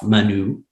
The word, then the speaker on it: Manoux: My full name is Manoux. Oh, wow. With a silent X at the end.